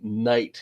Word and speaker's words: knight: HT pronounced that way why don't we pronounce the cave well originally the cave was pronounced it was committed back in the old old English or anglo-saxon days I'm not sure why it is that we don't pronounce the the K anymore but also people do